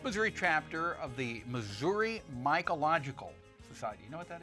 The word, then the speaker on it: Mycological: having an event this coming Saturday with the mological society right am I pronouncing that right yes that's exactly it deals